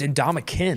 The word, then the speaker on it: Ndamukong: Yeah, it's not. There's no G. But so he's the ultimate. So he's played like Oh, it's Ndamukong.